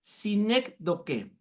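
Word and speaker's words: sinécdoque: a ver la primera sinec do que sinec con s y acento en la e sinc toque sinine toque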